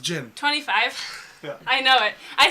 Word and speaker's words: djinn: It's genie. But it's pronounced Jinn.